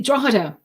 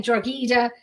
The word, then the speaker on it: Drogheda: based in trohida y'all the way it's spelled I listened so many people are saying georgita I was gonna say I I want to say like drog Hita yeah you know um